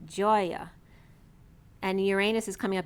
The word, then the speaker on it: Gaia: so ga a ea but again with a soft G Joya and Uranus is coming